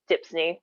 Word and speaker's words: DHPSNY: New York program, also referred to as DHPSNY, rhymes with Disney.